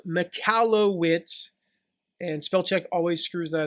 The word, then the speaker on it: Michalowicz: on him mike now his last name is pronounced mikalo witz and spellcheck always screws that up uh he